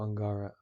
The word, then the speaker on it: Angara: yes okay and hello angara angara is that the right way to say your name angara yes it is thank you great great